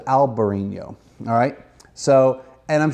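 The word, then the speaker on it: albariño: variations of spelling but it's alvar in yo he said alberini oh alright so and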